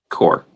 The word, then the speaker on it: Corps: Um core it's core. It's a French word. PS is silent core.